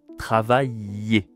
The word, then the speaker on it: travailler: La consonne ici c'est un ye travailler. D'accord ? C'est comme en espagnol un peu si tu connais.